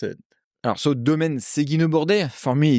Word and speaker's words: Seguinot-Bordet: For the Australian audience out there, reading this label, how would you pronounce it? Domaine Siggenaut-Borte, for me, it's easy.